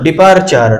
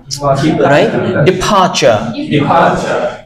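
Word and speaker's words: departure: সো এখানে বলা হয়েছে দেখো আমরা কি বলতাম ডি ই পি এ টি ইউ আর ই কি বলতাম ডিপার্চার তাই না ঠিক এখানেও এইযে যে সাউন্ডটা আছে আর যে লেটারটা আছে এবং এটার উচ্চারণটা আসলে হচ্ছে না তাহলে আমরা এই জায়গাটা কি বলব ডিফারচা ডিফারচা আকাশ আমরা এটাকে কি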